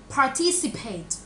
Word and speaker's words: participate: Participate. Participate. Cái này nó sẽ có hai âm per. Par, paid. Par, paid, okay.